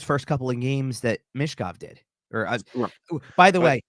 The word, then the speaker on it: Michkov: It's more Michkov. So give it that Mish, like that long E sound instead of less Mitch.